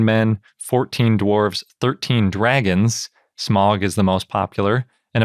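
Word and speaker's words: Smaug: names each 19 men 14 dwarves 13 dragons smog is the most popular and apparently it's actually pronounced smog not smog in case you want to be a real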